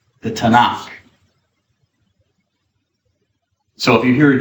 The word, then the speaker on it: Tanakh: that's the acronym and they add an a the vowel a in between so it's pronounceable so you don't say TK it's not the TK it's the Tanakh the Tanakh so if you hear